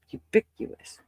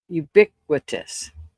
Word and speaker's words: ubiquitous: Ubiuous. Ubiquitous.